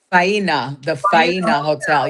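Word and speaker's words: Faena Hotel: How do you pronounce the hotel? Faina, the Faina Hotel.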